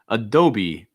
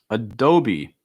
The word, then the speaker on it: Adobe: up starbucks starbucks and adobe adobe for the software company you want to make sure you're holding that e sound long i at the end so it's not adobe it's adobe adobe alright